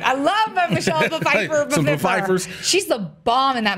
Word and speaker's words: Pfeiffer: Michelle Pfeiffer is amazing. We pronounce our P's around here. We pronounce our P's. That's right. I love Michelle Pfeiffer. Some Pfeiffers.